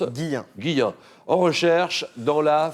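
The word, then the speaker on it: Guilhem: Tout à fait, Et mais ça se prononce Guillain.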